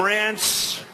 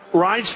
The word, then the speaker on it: Reince: They called him Rance. Steve Wynn just called him. He's still not pronouncing it right, Steve. But Reince Priebus, now everybody pronounces his name right.